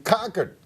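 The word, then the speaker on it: Concord: out live now to Nikki hel's headquarters in Cocker New Hampshire hope I pronounced that right nail it yes nail it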